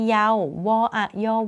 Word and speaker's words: เยาว์: เป็น ตัว การันต์ ค่ะ คำ ว่า วัย เยาว์ วัย ยอ เอา เยา ไม่ อ่าน ออก เสียง ว แหวน ว แหวน ก็ เป็น ตัว การันต์ ค่ะ ต่อ ไป